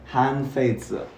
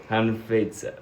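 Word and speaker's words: Han Feizi: Okay, that is Hanfeize. pronounced Hanfeize. Oh, that's better. Okay, try again, Benji. Hanfeize.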